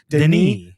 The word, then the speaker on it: Denis: I believe it's Denny, by the way. They don't even say that it's not Dennis like an American Dennis. It's spelled like Dennis, but they no S. Denis Villeneuve.